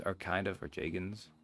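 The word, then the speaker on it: Jagens: Because, like, those Joggins are kind of, or Jagins, how it's meant to be pronounced, kind of bad regardless.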